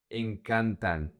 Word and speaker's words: encantan: The emphasis in the conjugation in the simple present doesn't go to the last syllable. It goes to the second to the last. So, the emphasis is going to be the syllable can.